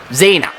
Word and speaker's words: Xena: I gotta be careful not to mess up their names, God, because there's one extra syllable in Xenia's name, whereas Xena is just Xena.